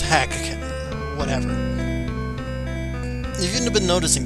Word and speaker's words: Drakkhen: Yes, it's pronounced Drakkhen.